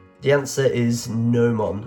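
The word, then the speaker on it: gnomon: the answer is nomon I'm assuming that g is silent g n o m o n if you had halosis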